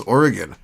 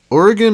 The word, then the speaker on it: Oregon: Oregon is pronounced like Oregon, but if you hear people from the other side of the country, they'll say, like, Oregon and shit.